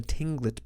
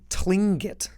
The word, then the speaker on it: Tlingit: Their name, too, the Tlingit, Tlin. Too. It's so hard to pronounce. Kind of like a K.